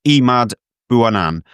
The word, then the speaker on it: Emad Bouanane: Uh just a picture of Emmad Buanan and that's the correct pronunciation because I've just checked with the man himself.